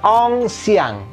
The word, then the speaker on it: ancien: Ong si, nah ini ien itu bunyinya iyang, hatiku riang gembira gitu. Jadi karena itu bacanya ong siang ya.